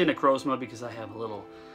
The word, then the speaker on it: Necrozma: I hear a lot of people pronounce it. I say Necrozma because I have a little slang on that.